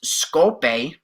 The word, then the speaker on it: Skopje: The capital is Skopje, as they pronounce it.